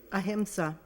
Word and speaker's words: Ahimsa: I'm going to let you pronounce that for me. Ahimsa.